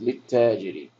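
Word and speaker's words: للتاجر: Lit-tajiri. And again, here's harf shamsiya, and we're going to not pronounce this second lam.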